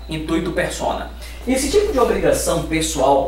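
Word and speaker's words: intuitu personae: Se escreve diferente de como se fala, tá? Intuito persona.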